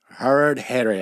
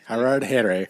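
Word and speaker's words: Harardhere: How do you pronounce that? Harad Here. Oh, okay. Harad Here.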